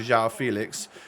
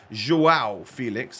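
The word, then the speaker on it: João Félix: and it falls straight out to zhao felix joao felix i'm pretty sure is the current correct pronunciation uh but we're able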